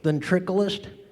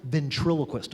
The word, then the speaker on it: ventriloquist: do a ventriloquist show ventriculus it's pronounced ventriloquist I can't say that